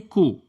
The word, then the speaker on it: coup: He was killed because of a military coup.